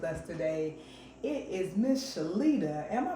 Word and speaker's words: Shalita: special guest with us today it is Miss shalita am I pronouncing it right yes cause I will chop